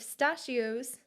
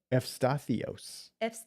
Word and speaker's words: Efstathios: If pistachios, somebody in the comments told me how to help myself. Pistachios. No, but it's wrong. Efstathios. There's no SH.